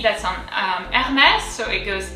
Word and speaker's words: Hermès: But to go back to Hermès, we have the accent grave. So it goes Hermès. And then at the end, there is an S.